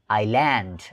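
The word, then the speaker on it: island: आइजल्यान्ड, धेरैले आइजल्यान्ड भन्ने गरेका छन् तर यसको सही उच्चारण के हो त भन्दाखेरि आइल्यान्ड आइल्यान्ड. यो एसको उच्चारण गर्ने गरिएको हुँदैन, त्यसैले के भन्नुपर्छ आइल्यान्ड.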